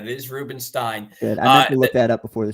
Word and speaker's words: Rubenstein: I think so honestly I'm not even sure if it's Ruben Stein or Ruben Stein I it's Ruben Stein I know that I got confirmation on that it is Ruben stein look that up before